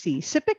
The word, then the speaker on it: CIPPIC: I'm very pleased to introduce David Fer who is the director of CIP PIC SIP. Is that how you would pronounce the acronym?